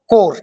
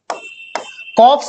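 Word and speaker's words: corps: इसको बोलना है आपको कोर ठीक है क्या बोलोगे आप इसको इसको बोलोगे आप कोर ठीक है कोर बोलोगे इसको कॉप्स मत बोलना ठीक है गलत प्रोनाउंस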